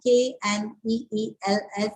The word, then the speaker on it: kneels: Please underline K-N-E-E-L-S, kneels. K is silent here.